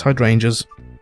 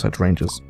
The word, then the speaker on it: hydrangeas: how to say it it's hydrangeas thank you person in the comments oh man that was some of the funny stuff funny stuff funniest stuff i've ever done trying to pronounce hedge rangers yep okay let's go